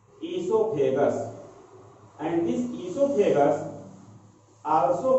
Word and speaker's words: oesophagus: Here the pharynx open in the muscular tube which is called as oesophagus. It is pronunciated as esophagus, and this esophagus also called as food pipe.